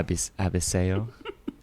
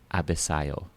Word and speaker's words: Abisayo: Abiseo. Mm-mm. Oh no, that's wrong. Abiseo. Mm-mm. Abisayo. Better.